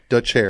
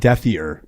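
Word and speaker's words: Dethier: DeChair. It's not Deathier. No. It's you sit in the chair.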